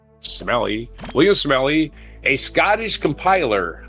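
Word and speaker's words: Smellie: Smelly. Sme L I E. How would you pronounce that? Smelly.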